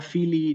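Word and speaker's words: filii: Fíjense, la palabra fili tiene doble I, se tiene que escuchar esa doble I, ¿sí?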